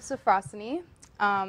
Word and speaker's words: Sophrosyne: awesome so tell us about this book and pronounce that title firm um so it's called seeds of safrussani so frosty is a greek term and philosophy